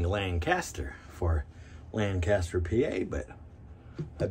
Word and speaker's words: Lancaster: years i've been saying lancaster for lancaster pa but i've been recently told that it's a lan kister i think oh that's